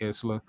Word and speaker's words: Isla: well he said Iceland I say Isla but I guess the S is silent and that's dumb Isla the S is silent stupid they were not really